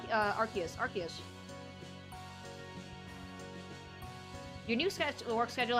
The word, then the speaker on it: Arceus: How do you pronounce uh Arceus? Arceus.